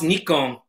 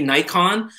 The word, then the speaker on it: Nikon: awesome um ibrah ibrahim i love how you pronounce nikon i know that's the correct japanese yeah it is i mean it's mostly united states that say nikon i find most people